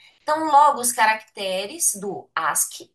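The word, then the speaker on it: ASCII: Então é e em inglês a pronúncia que a gente fala é ask. Ótimo, gente. Então isso aqui a gente fala ask.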